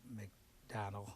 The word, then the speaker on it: McDonnell: go to you, Nina McDonnell. I think I may have pronounced you wrong. McDonnell, excuse me.